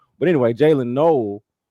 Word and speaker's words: Noel: But anyway, Jaylen Null from from Iowa State.